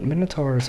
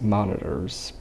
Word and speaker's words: minotaur: know this one but minotaurs are my absolute favorite being in any fantasy any fantasy world i love minotaurs or as absolute zero says monitors but it's pronounced minotaur if you don't know